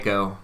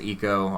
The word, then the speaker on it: ICO: last guardian um i a lot of people call it ico it's pronounced eco i'm i was told